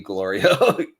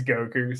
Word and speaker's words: Goku: Goku confirms this because he didn't believe glorio I guess he can't even say his name right it's Goku so he needed to